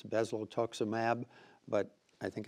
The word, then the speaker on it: bezlotoxumab: I warned you there was a drug I might have trouble pronouncing, and here it comes. It's Bezlotoxumab.